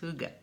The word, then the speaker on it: hygge: pronounce that but is according to the experts it's hooga hooga is a word